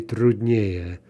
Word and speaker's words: труднее: Трудный, back to two syllables, so more difficult would be труднее, stress on the ending.